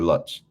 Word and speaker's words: Lutz: Oh, it is Lutz or Lutz. Lutz is the way it's pronounced. Okay, it's German, so either way is correct.